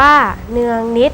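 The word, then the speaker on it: เนืองนิตย์: ใจ คน รู้ ด้วย คำ ว่า เนือง นิตย์ อ่าน ว่า เนือง นิตย์ หมาย ถึง เสมอ เสมอ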